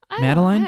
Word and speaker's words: Madeline: up is from celeste madeline madeleine madeline i was on that line but yeah i feel like madeline is closer to the french pronunciation here iconic iconic yeah next